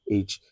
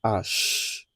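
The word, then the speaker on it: ache: Then we have H. Don't be, resist the urge to say H in French. It is pronounced as ash, hash in French.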